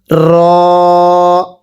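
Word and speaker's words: ر: এরপরে র, আমার সাথে পড়বেন র। অনেকেই রকে রা পড়ি, রকে রা পড়লে পড়া শুদ্ধ হবে না, আমার সাথে পড়বেন র।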